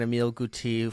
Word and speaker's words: Emile Guité: But yeah, when I saw at 159 Emile Guité, who is obviously the correct pronunciation for that, Yes, I would say, yes, for sure.